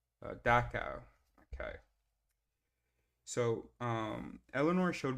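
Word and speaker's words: Dachau: And let's get some pronunciation. DOA.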